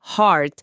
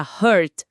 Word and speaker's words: heart: É verdade, a pronúncia de heart exige aquele A aberto lá do fundo, heart. Se a pessoa disser com um som mais fechado puxando pro U, vira hurt, hurt, que significa dor ou machucado.